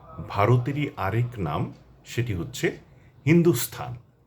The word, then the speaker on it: হিন্দুস্থান: একটি হচ্ছে ভারতের অন্যতম প্রদেশ রাজস্থান আরেকটি হচ্ছে ভারতেরই আরেক নাম সেটি হচ্ছে হিন্দুস্থান। এ দুটি জায়গার নামে কেবল স্থান হবে।